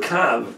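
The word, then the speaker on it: קוה: That's the way it's written, but it's pronounced kav, which is kuf vav.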